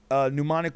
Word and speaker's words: Mnemonic: You know, mnemonic with an M, M-N-E. You almost got it. M-N-E, M-O-N-I-C. So the first M is silent.